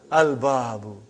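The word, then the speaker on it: الْبَابُ: Al-babu. Is it moon letter or sun letter? Moon letter. You did pronounce lam.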